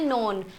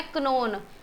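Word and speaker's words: known: जैसे कोई क्या है, जैसे इंग्लिश का वर्ड है नो, इसे हम क्या बोलते हैं? नोन। कोई इसे क्या बोलता है? क्नोन, क्योंकि स्टार्टिंग से ही गलत बोला गया है तो गलत ही फिर लिखते हैं।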